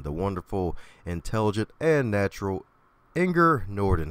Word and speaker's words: Inger Nordin: to go in the wonderful intelligent and natural anger Norton how you doing today anger thank you for